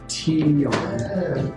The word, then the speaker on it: tignon: What is a tignon? Pronounced T-yarn. It's a piece of material wrapped around a woman's head similar to the West African gili.